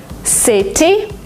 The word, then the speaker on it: city: something in american english if you have a letter t in the middle of a word sometimes you pronounce it as d letter letter letter because it's faster because it's smoother city you don't say it